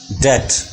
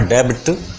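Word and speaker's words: debt: already ब इन डेट this is डेट B silent here it's नॉट डेबिट this is डेट डेट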